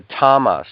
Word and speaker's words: tamas: The tamas is how it's said in the Sanskrit, is unmoving, apathy, inertia.